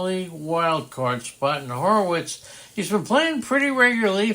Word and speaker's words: Horwitz: it's Horwitz without Horwitz. not Horowitz.